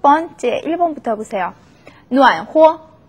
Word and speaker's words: 暖和: 暖和, 暖和, 호라고 경성으로 발음이 나죠.